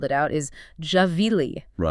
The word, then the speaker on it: Gvilli: So the pronunciation, the actual Hebrew pronunciation, the way his family says his name, the way his unit would have called it out is Javeili.